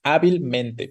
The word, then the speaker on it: hábilmente: no decimos hábilmente No nadie dice hábilmente como que perdamos la fortaleza ahí sino que decimos hábilmente como si fueran prácticamente dos palabras por separado y señalamos dos fuerzas no dos tonicidad o dos sílabas en este caso pero no se no